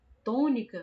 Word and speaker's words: tônica: Tônica, a gente percebe que o tó é o tom, to, é a sílaba que está se destacando mais, é a que a gente está demorando mais, é a que está sendo mais forte. Então a gente sabe que a to é a sílaba mais forte da palavra tônica, que no caso, né,